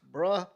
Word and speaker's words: Bruh: It's Bruh McCoy, and Squirrel White. Yeah, I think that's Brew McCoy is how they Oh, it's pronounce bruh.